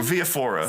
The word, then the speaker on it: Viafora: Viafora.